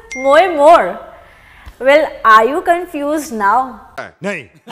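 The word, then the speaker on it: Moje more: songwriter Tia but wait now Indians are pronouncing it as moo but basically it is mo more well are you confused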